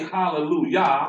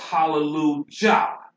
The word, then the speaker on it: Hallelujah: Now you'll hear them say hallelujah. Yes. And they'll put a J-A-H at the end. That J is deception. Mm-hmm. When that's supposed to be pronounced hallelujah.